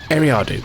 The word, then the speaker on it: Eriadu: with Thrawn, which is Eriadu. No, not Eriadu. How are you supposed to pronounce it? Eriadu, that's how you're supposed to pronounce it, yes.